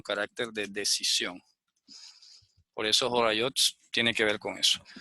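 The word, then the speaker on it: הוריות: Talmud que se llama Jorayot. Jorayot significa eso como orientaciones, ¿no? Como instrucciones. Como cuando tienes una receta y vas a seguir unos pasos, entonces se pronuncia Jorayot. Jorayot. Y en el Talmud inclusive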